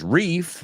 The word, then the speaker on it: reef: Riff rhymes with stiff. Tieso, right? So it's always good to rhyme words. Reef rhymes with leaf. See? Leaf and riff, totally different.